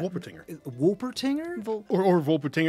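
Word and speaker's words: Wolpertinger: tattoo yeah yeah yeah wolper tinger because I mean because it's German so like the W's of V sometimes oh yeah I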